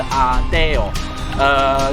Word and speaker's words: ADO: 是叫 Adeo，他们发音是 Adeo。